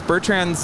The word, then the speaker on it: Bertrand: No, and I heard how to properly pronounce Bertrand's name in French, and it's nothing like how we pronounce it in English. Oh? It's more like Bertrand.